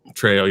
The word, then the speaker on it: Trejo: Trejo, yeah. That's how it's pronounced.